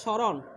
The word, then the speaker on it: স্মরণ: তাহলে আমরা জানি শব্দের শুরুতে ম ফলা থাকলে ম ফলার উচ্চারণ হয় না, তবে নাসিক্য একটা ভাব আসবে। ঠিক যেমন এই ম ফলার উচ্চারণ হবে না, তাহলে এটা কি হবে স্যার?